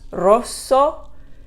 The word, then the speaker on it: rosso: navy rosa is pink so contrast rosso and rosa the s's sound different soft sound hard z sound because there's only one s on a is orange